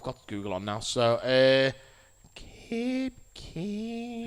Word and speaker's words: Koepke: It's Koepke.